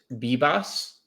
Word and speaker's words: Vivas: Um uh the Yankees will probably play um there's a chance they go Jorbeat Bbos. I know it's spelled the Vivas, but it's BBOS is the pronunciation.